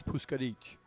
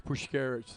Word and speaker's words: Pushkarich: Actually, you know, the proper pronunciation in Eastern European is Pushkarich. I like so that better. Pushkarich. The American version is Pushkarich.